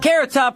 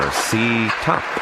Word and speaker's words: Carrot Top: Carrot Top here with 1800 Carl ATT for collect calls. It's as beautifully simple as figure skating. The next skaters are Ctop and Pay phone.